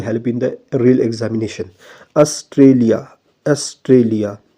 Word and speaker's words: Australia: From Australia, which all feature we have borrowed in Indian constitution, right? So as you pronounce the word Australia, Australia, so here stress come on the word T, right?